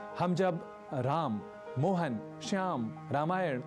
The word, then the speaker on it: रामायण: और हाँ, अंग्रेजी के उच्चारण का रामायण और महाभारत में उपयोग बिल्कुल भी न करें। यानी रामायणा, महाभारता ये भी हमें नहीं बोलना।